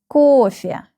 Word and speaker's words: кофе: The first syllable is stressed. КОФЕ.